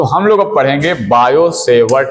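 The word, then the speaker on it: Biot–Savart: तो हम लोग अब पढ़ेंगे बायो-सेवर्ट का नियम। इसका नियम है बायो-सेवर्ट का नियम। क्या है नियम, देखिए, बायो-सेवर्ट का नियम। इसको क्या लिखेंगे आप, तो बायो, इसमें टी साइलेंट रहता है, सेवर्ट, बायो-सेवर्ट लॉ।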